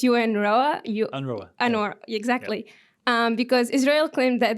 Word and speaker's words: UNRWA: My second question was, the funding was cut on UN, I think it's pronounced UNRWA. UNRWA, exactly.